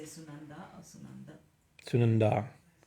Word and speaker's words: Sunandā: Sunandā. Yeah, it's a long A for sure.